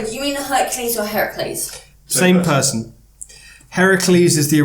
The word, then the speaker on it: Heracles: is why he's called Heracles. It's the westernised version of Heracles, which became Hercules. Yeah. People didn't know how to pronounce Heracles.